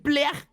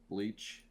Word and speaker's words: Bleach: Next, we have the God Hand from Berserk, my favorite manga of all time, versus the Espada from Blech. Pardon the pronunciation. From Bleach. Bleach.